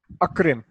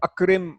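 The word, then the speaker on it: أَكْرِمْ: And this is a hamzatul qata, which means that the alif is always pronounced. If I say and respect, so I'll say wa akrim. So the wa will be pronounced and the akrim will also be pronounced.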